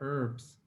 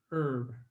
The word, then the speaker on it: herb: the h is pronounced herb herb in america the h is silent herb next slide why